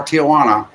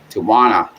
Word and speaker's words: Tijuana: No more Tijana. Tijuana. That's how you pronounce it.